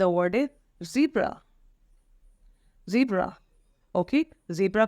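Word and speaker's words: zèbre: अब देखिए इंग्लिश में जेड को बोलते हैं जी, बट in French is pronunciation is जेड एंड the word is ज़ीब्रा, ज़ीब्रा।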